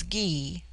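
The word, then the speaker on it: Gy: The word for woman is gee pronounced hard as in guy.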